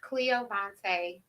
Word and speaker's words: Cleoyvonta: say your full name my full name is Cleo Vante it means a bundle of joy I